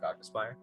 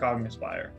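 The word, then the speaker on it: Cognispire: should be c-o-g-n-i-s-p-i-r-e like cog as in a cog in a machine hogness okay i had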